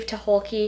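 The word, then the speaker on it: Tucholke: midnight by April Genevie to hulkki that's how the Audi book pronounces her last name so I'm just going to go with it this book was weird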